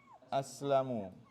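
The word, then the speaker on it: أسلموا: Aslamu. Aslamu. Now, you see this alif here? You write this alif with the plural, right?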